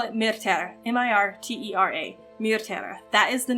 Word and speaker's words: Mirtera: two syllables so let's just drop the second syllable entirely and also um yeah so we're going to call it m-i-r-t-e-r-a mirtera that is the name of our continent